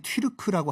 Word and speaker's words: 튀르크: 쳐들어오는 오랑캐다에서 돌궐 그러니까 돌궐이라고 우리가 부르는 거보다는 원래 자기들 발음이 튀르크라고 하는게 낫죠 그래서 이상한게 몽골 초원에서 나라를